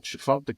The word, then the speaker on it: Tchefuncta: Well, I'm at the beautiful Chifuncta Country Club. That's spelled Tchefuncta. The T is silent.